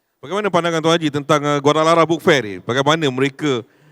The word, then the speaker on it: Guadalajara: Syekh, saya sebut bila awalnya kita sebut sebagai Guadalajara, ejaan dia J, tapi sebenarnya apa dibunyikan walaupun ejaan dia J, bunyi dia H, Guadalajara.